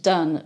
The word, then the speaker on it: Donne: do n n e we know that he pronounced it done because he actually uses it in poetry and rhymes it so we know exactly